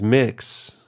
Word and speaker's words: Mx: that most of us grew up using for our teachers MX generally pronounced as mix has grown in popularity